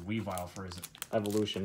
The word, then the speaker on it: Weavile: Sneasel when I sneeze by the way it's pronounced Weavile for ism evolution not evil we violent way